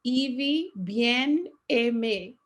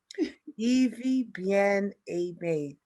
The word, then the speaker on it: Ivie Bien-Aime: marceland and i would like to welcome virtually evie bien ami um please could you help me again with this beautiful um pronunciation yes my name is pronounced evie bien emme evie bien a may thank you very much for joining us on